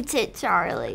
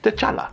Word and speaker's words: T'Challa: Oh, my heavenly Jesus, is that you, Tit Charlie? It is I, Pennsatucky. I cannot believe we are finally meeting in person after all these years. Also, just so you know, it's pronounced T'Challa.